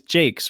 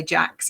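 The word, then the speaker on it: Jacques: to do that and it's jake's right i heard you say richard jakes jakes yeah it means i've been pronouncing it wrong this whole time i'm sure i'm sure he doesn't mind i think a lot of people say jax actually right cool well what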